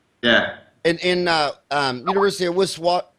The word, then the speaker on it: Witwatersrand: In University of Witwatersrand. How do you pronounce that? Witwatersrand? Witwatersrand.